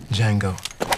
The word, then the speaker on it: Django: Django. D-J-A-N-G-O. The D is silent.